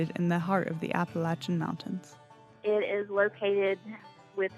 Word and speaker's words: Appalachia: it anything other than Appalachia. When I hear someone say Appalachia or Appalachia or however they pronounce it, to me, that signifies that person is not from the Appalachian region.